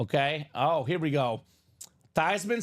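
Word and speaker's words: Theismann: so and she said actually the correct pronunciation is tyman tyman so it's a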